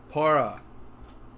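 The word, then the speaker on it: Purah: against that bright white para that's how you pronounce it not pierrot okay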